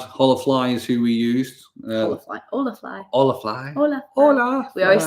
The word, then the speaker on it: Holafly: Holafly. We always say it wrong. We realise afterwards, you're like, oh yeah, it's Spanish.